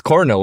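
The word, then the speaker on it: colonel: col like how do you pronounce that one pronounced car it's with an l oh my God this is so much it's Coral right but they they it's written like with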